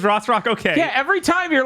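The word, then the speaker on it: Rothrock: I'm just thinking Cynthia Rossrock is or Rockworth. No, you said it right. It is Rossrock.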